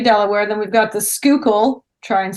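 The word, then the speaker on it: Schuylkill: Then we've got the Skookul. Try and spell that ever. Um I can spell I'll spare you. The Skookul River.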